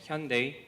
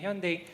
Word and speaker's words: Hyundai: now like samsung and hyundai which is pronounced like sunday and the lg or